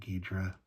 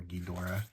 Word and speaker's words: Ghidorah: King Ghidorah or Ghidorah, however you want to pronounce it.